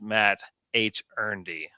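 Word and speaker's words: Mathurin: I think like Pelicans, Yees, Mei, Ben Matherin trade. I hope he doesn't go to the Pels. And uh, Dave, that name is pronounced Matt H. Ernie.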